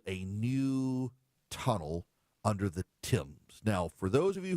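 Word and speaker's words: Thames: is spelled themes t h mes it is pronounced the Tims the Tims is the famous river that runs through London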